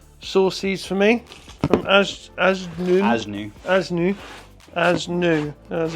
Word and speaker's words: ASNU: So thank you to Bennett Engine Tuner, sourced these for me from Asnu, as it's pronounced, but yeah.